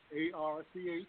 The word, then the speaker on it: Arch: The first name is Arch. A-R-C-H.